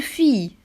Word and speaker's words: fille: se prononce y 2 elle se prononce comme y y pami exemple une fille une fille albine une